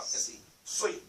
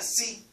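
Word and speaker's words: صِ: It's not Si, Si. It's like you're saying the Sin. Sui, Sui. Okay. So the bottom of your jaw, the bottom of your, where Sui, Sui. You grab it from down there.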